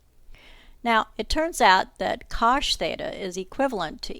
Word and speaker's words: cosh: the unit hyperbola that by the way is pronounced cosh theta and so it's going to be limited